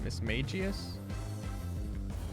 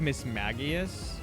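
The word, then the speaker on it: Mismagius: cuz I I've always caught it like Miss Maggias, but I think it's supposed to be Magius, like a mage.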